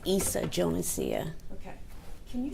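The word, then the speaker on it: Yssa Jonesia: Lisa Jonicia. Lisa Teresia. Pronounce your name for me. It's Issa Jonesia.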